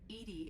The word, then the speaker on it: EDI: Edie is the phonetic pronunciation Esta of cosa Edie.